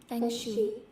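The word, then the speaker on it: feng shui: This fanguy. I pronounced it correctly.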